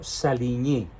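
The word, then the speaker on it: Saligny: llamó el tratado sarco salini se escribe saligni se pronuncia salini en francés y los certifica Francisco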